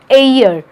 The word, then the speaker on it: heir: अब ये प्रोनाउंसिएशन का ध्यान हमें रखना पड़ेगा हमेशा। He is an heir to the throne. अब आप लोग बोल रहे होगे मैडम ये तो हेयर लिखा हुआ है, यही तो दिक्कत आती है, हम लोग गलत प्रोनाउंसिएशन करते हैं। इसका मतलब, इसका प्रोनाउंसिएशन होता है एयर, ठीक है।